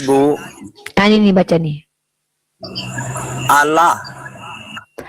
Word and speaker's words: Allah: Allah. Salah Bapak, itu L-nya 2 Pak. Nah, yang Bapak baca itu L-nya 1.